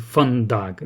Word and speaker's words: Фандаг: А этот путь будет Фандаг, да, с ударением на первую. А, а значит, этот путь